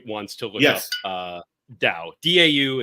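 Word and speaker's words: Dão: to look up uh da da is is how you pronounce the Dow area of Portugal that's right um cool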